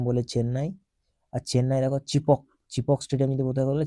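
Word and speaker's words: Chepauk: উড়িশা ঠিক আছে দেখ এটা চেপাউক হবে না চিপক হবে চিপক লিখে দিচ্ছি চিপক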